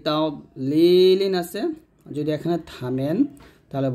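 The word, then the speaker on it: تضليل: আমরা অনেকে এখানে একটা ভুল করি, এর দোয়াদের উচ্চারণটা তা দ বলি, তা দ এরকম উচ্চারণ করি, মানে এখানে দোয়াদটা কলকলে করে ফেলি। তো দোয়াদ কিন্তু কলকলা হরফ না এবং কলকলা করাও যাবে না। এখানে দদ মোটা করবেন, আলাম ইয়াজআল কাইদাহুম ফি তাগলিল।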